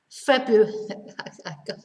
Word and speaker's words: February: will know this word february january february february and this is difficult to pronounce because we don't pronounce the r it's not february february